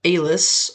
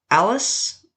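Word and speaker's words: Allis: 1941 a Mr Barney Alis or Alice I'm not actually sure which way it's pronounced I think it's Alis a l l i owner of the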